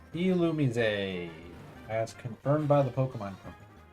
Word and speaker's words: Illumise: Illumise. Illumise. As confirmed by the Pokemon Company. How you pronounce that name?